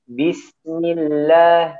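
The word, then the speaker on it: بِسْمِ اللَّهِ: Hati-hati di kata bis, bisnya dialirkan. Bismillah, bismillah, jangan bismillah, bismillah lah.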